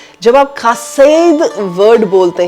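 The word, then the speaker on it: חסד: वो है खा सेद इसके स्पेलिंग तो होते हैं सी टी एच ई एस ई डी पर इसको बोला जाता है ख सेद तो प्रोनंसिएशन जो है वो इब्रानी भाषा में डिफरेंट होती है सो यहां पर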